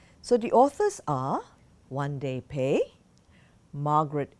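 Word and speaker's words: Won-Ldy Paye: to pronounce this name and apparently it is pronounced one day pay so the authors are one day pay Margaret H Lippert and the book is illustrated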